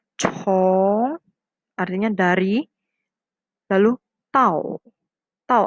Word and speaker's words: 从: Ini bacanya chong, artinya dari.